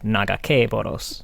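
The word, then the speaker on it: Nagakabouros: help me the naga naga que boros is not how she pronounces it i it is not how i pray i always pronounced it naga boros but she does say nagake boros naga boros i'm okay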